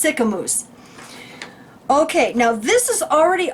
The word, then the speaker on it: Sicamous: Well, it's spelled like mouse, so I would have said Sycamouse. So I appreciate it. It's Sicamous.